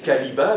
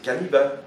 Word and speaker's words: Caniba: Ils disent Caliba, mais c'est pas Caliba, c'est pas Cariba, c'est Caniba, parce que lui il veut entendre la racine canis, chien.